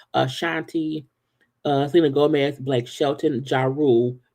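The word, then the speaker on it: Ashanti: Doors Down One Direction a Shanti not Shanti is absolutely a Shanti Cena Gomez Blake Shelton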